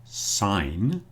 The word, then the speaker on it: sign: I suppose you could sign your signature, but sign is pronounced sign with a silent G, but signature, you hear the G.